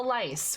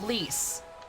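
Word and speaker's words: Lyse: What's with the lice? What's going on? Her name is pronounced like Lise.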